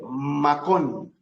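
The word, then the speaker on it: מקום: llegó a un cierto lugar quieren saber cómo se escribe eso en hebreo y cómo se lee se dice macón m a K o m macón macón o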